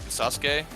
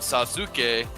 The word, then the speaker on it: Sasuke: different Sola BS and anytime that there's a syllable usually after A and S in their deal like Sasuke right it's spelled Sasuke but they call him Sasuke because that U between the two consonants in the middle of the word has that really quick right so it's